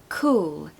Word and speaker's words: cool: a beach of course pronunciation tip cool cool quite difficult to say we don't want cool we don't want an ooh sound we want all like the word all cool cool down if